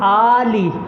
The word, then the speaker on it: آل: اندر یہ آل فرعون، آل لام کو مجہول پڑھتے ہیں جبکہ یہ مجہول پڑھنا یہ غلط ہے. صحیح تلفظ کیا ہے؟ من آل، من آل فرعون.